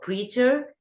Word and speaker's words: Praetor: It's called Pretor. Um how do you pronounce it? Pritor it's perfect but you can you can pronounce it in a few ways.